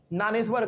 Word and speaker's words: ज्ञानेश्वर: बल्कि दो तीन है पहला जानेश्वर लिखा हुआ है लेकिन हम लोग इनको ज्ञानेश्वर कहते हैं। ठीक है ना? ध्यान रखना इस बात को। इसमें जो जे है वो साइलेंट रहता है।